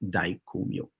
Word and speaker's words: Daikomyo: but the mantra to go with that is pronounced Daikomyo.